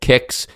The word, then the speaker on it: Qix: And so rather than be funny or anything about Kicks and the name there, I think it's just worth mentioning that it was called Kicks because the husband-wife duo that made the game,